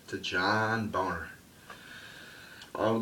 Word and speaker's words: Boehner: And yes, his name is John Boehner, people. That's how you pronounce it in German.